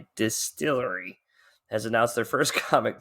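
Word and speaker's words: DSTLRY: new publisher Distillery and this is how you spell it folks d-s-t-l-r-y Distillery has announced their first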